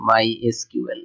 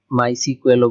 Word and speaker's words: MySQL: সো উইকিপিডিয়াতে যদি আপনি দেখেন যে আসলে এটার উচ্চারণ কিন্তু মাই এসকিউএল, like মাই এসকিউএল। সো অনেকেই মাই সিকুয়েলও বলে, আর I think মাই সিকুয়েল মাই এসকিউএল